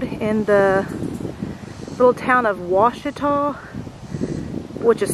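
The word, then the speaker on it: Washita: It's just off of a side road in the little town of Ouachita, which is spelt differently than Lake Ouachita.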